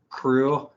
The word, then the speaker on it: Krewe: But if you want to follow my Twitter, it's the number 7th floor crew. Crew is spelled Krewe. It's a New Orleans thing.